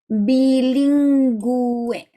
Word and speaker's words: bilingüe: When that happens, you do pronounce the U. So here, notice ge, ge. Here this U is silent. But when the U has got 2 dots on top, then you read the U. I always think that they're like 2 eyes that are open. Therefore, you do pronounce them.